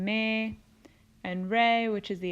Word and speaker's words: Me: ends with an E the new solfege syllables end with the letter e which makes the sound a so T became teh LA became lait soul became say me became May and Ray which is